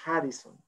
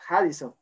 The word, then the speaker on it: Radisson: Y me acordé que la R se pronuncia como J en Brasil, entonces era Harrison. Entonces, cuando ya le dije al taxista, Harrison, oh, Harrison, me dijo, perfecto.